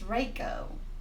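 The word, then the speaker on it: Waco: A lot of people pronounces Racco, but they got to realize that Racco is spelled CK, and this is just C. So it's Racco, and it's crazy, like,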